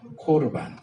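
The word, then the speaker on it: קָרְבָּן: 예물은 코르반이에요. 코르반. 신약에서 고르반이라고 번역을 했어요. 근데 이제 원래 발음대로 하면, 히브리 발음대로 하면 코르반이고요.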